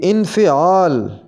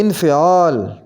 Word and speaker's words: انفعال: بے وقوف، بے وقوف۔ انفعال، اس کی صحیح ادائیگی ہوگی انفعال، فے کے نیچے بھی زیر آئے گی انفعال۔ باہر، اس کو صحیح